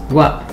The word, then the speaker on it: は: Take note that this particle is the character ha from the hiragana chart, but it is read as wa, because it is used as a particle.